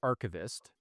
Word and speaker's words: archivist: So Nate, I think, said archivist.